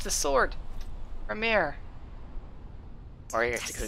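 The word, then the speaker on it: Gramr: Ramir. Or you have to go to Gram. The R at the end is silent.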